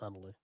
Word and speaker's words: Nathalie: It's got a H in it. It's pronounced Natalie.